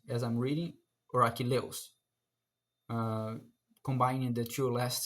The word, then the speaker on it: Achilleus: Would they read Achilleus, as I'm reading, or Achilleus, uh, combining the two last syllables as one? That is a problem that I'm having. I pronounced Achilleus with four syllables, and the antepenultimate syllable is the stressed one.